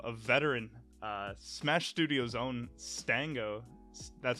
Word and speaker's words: Stango: of the show of veteran smash studios own Stang go that's how you say right it's Stang go yeah yeah okay I would hate to mess up the pronunciation on that Stanga what's going on man